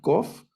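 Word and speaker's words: קוֹף: K entonces la coffe esta letra se llama coffe vamos a a recordarla como la letra q de español y la cap que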